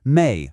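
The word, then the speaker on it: 妹: And to complete our set, our fourth and final sibling character is May, pronounced May for younger sister. Listen to that tone again. It's that same sharp falling fourth tone, just like we heard with D.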